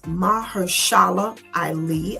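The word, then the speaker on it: Mahershala Ali: I don't know how to pronounce his name. He is Mahersala Ali. I believe that's how you pronounce his name.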